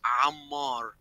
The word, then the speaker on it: Ammar: In fact, my name is Ammar. The A sound does not exist in English.